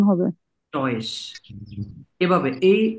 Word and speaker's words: Deutsch: স, তালি বা স্বর মতো উচ্চারণ হবে। টয়েস।